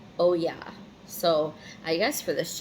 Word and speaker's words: Oya: And her name is pronounced Oya.